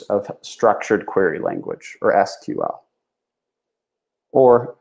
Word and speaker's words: SQL: Some people pronounce it SQL, like those independent letters, or like the word SQL.